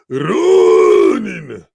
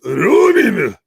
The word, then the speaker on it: Ronin: I believe the correct way to pronounce it is Ronin. Was that? The correct way to pronounce it is Ronin.